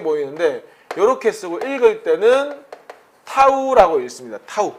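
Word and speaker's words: tau: 그럼 그 돌림 힘의 크기를 보통 우리가 여기 타우라고 읽거든요. 요게 이렇게 좀 작게 보이는데 요렇게 쓰고 읽을 때는 타우라고 읽습니다.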